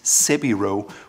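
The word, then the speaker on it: 背広: And as a side note, the Japanese word for suit is sebiro, which is their pronunciation of several row.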